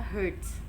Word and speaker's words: Hertz: Satuannya adalah Hz, dibacanya Hertz.